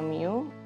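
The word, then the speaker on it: μ: nilai rata-rata atau Miu dan standar deviasi ini dibacanya Miu ini dibacanya Sigma Hai atau ini merupakan apa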